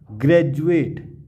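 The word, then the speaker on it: graduate: हमारे रूल में बताया था यू ए टी ई, जब भी डी के बाद यू ए टी ई आए तो डी जो है वो जॉ के रूप में उच्चारण किया जाता है, अर्थात डी जो है वो जॉ बन जाता है।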